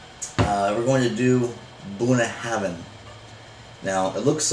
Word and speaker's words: Bunnahabhain: bad boy here uh we're going to do buna heaven now it looks like boone having it looks weird but you know there's that right there now but it's pronounced buna heaven with a v doing a heaven okay now